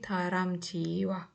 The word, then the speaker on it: 다람쥐: okuma kurallarını dikkate aldığımızda bakın dedik D Hari kelek harfinden sonra ünlü bir harf gelmiş o yüzden L değil R şeklinde okuyoruz geri kalan zaten bildiğiniz gibi taram şeklinde tottori Geldiğimizde yine kelimenin